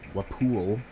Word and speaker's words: Walpole: areas I was just talking about earlier near Wapool. Hang on, I gotta check how that's pronounced.